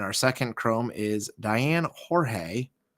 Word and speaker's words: Jorge: And our second Chrome is Diane Jorge, or maybe George. Some people say George, but spell it that way, for the Rockies.